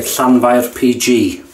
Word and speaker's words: Llanfair PG: we don't say the whole name, we say Llanfair PG.